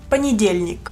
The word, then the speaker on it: понедельник: Lunes en ruso es понедельник. Así se escribe en ruso. Aquí está la transcripción. Понедельник. Понедельник. Понедельник. Este sonido es muy suave.